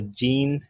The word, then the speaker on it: Jean-Baptiste: तो ये जो आपको नज़र आ रहा है बैप्टिस्ट नहीं है, here P is silent. We call it the Jean-Baptiste Biot and Felix Savart.